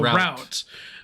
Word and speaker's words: route: I pronounce it R plus out. So, route. But I hear people pronounce it as root. Well, I think you just heard how I pronounce mainly because of the Route 66 song.